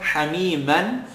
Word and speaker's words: حميما: Hamiman, double accent. The next letter is a waw, part of yarmalun. Stick the shadda. Hamiman وغس.